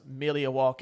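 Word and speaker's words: Milwaukee: have uh yes Pete it is actually it's pronounced milia walk which is Al gangin for the good land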